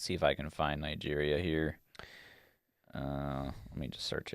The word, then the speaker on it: Niger: It's Niger. Yeah. You pronounce it. Niger, sometimes.